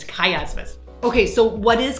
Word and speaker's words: chiasmus: First of all, wondered how to pronounce it. It's chiasmus.